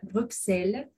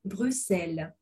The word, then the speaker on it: Bruxelles: Il y a de fortes chances que le français dise Bruxelles en prononçant le X comme dans taxi, alors que le belge dira Bruxelles en prononçant le X comme un S sourd.